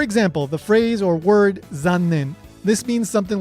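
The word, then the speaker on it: 残念: The only difference between these two examples is the Z sound in Zannen and the S sound in Sannen.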